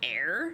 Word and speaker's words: ere: Why does ear mean before? Ear is pronounced like air.